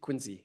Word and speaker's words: Quincy: They get very specific about how they want to have their name pronounced. Quinsey, Massachusetts.